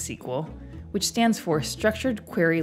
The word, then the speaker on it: SQL: databases use a language called SQL pronounced sequel which stands for structured